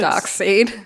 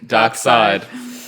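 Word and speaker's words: Darkseid: it's so dumb it's such a dark seed dark side you say dark seed it's spelt dark seed is that why you're pronouncing it like that i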